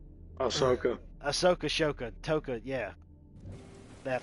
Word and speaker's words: Ahsoka: I think, if I'm not mistaken, he showed up in the Shaka TV show. Yeah. I'm hoping you mispronounced that on purpose. Ashaka, Ashoka, Akoka, whatever. Ahsoka.